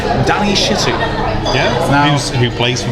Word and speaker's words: Shittu: box to brief us, saying his name is Danny Shittu, we call him Danny Shittu. He doesn't like it when people try to somehow sanitise his name and pronounce it in a way so it doesn't sound rude.